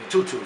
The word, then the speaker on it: Tutu: Because on the streets they call me Tutu. That's my nickname. Tutu. Like my 30, 40 year niggas, or you know, back then, Tutu.